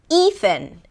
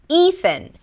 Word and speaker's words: Ethan: The next name is Ethan. Ethan. This name has two syllables. The first syllable is 'ee' 'ee', like the beginning of the word "eat".